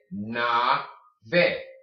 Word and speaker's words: nave: in the end, but you're made to be aware that the E is not silent at the end of a Spanish word. So how do you say the A? A. How do you say the E? E. Nave, nave, nave, nave, okay?